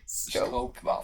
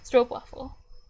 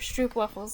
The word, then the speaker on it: stroopwafel: oopsie yes thank you the O is more like an OA in English what I'm pretty sure many tourists come asking for stoop waffles and they say it like that um yeah I bet